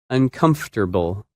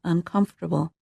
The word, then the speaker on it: uncomfortable: That word is uncomfortable, and its opposite, comfortable. When you say this word, you do not pronounce some of the letters that you see in the written word.